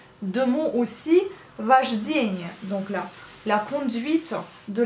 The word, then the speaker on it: вождение: Вождение. Donc là, la conduite de la voiture, ça veut dire вождение. Pareil, vous prononcez le A, mais vous écrivez le O.